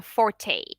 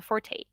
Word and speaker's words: forte: house um well and when you say okay that's not his fort and people are like that's not his what that's not his fort that's not his forte it's like no you only say forte when it's about music neither and everybody's like